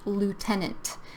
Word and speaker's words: lieutenant: And this word is pronounced lieutenant. And this word is pronounced colonel. These words, they don't look, the spelling is totally different from how you pronounce them.